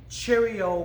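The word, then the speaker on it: charyeot: be looking at the cheerio position cheerio was rather easy to remember because it's pronounced like the cereal Cheerios cheerio means attention cheerio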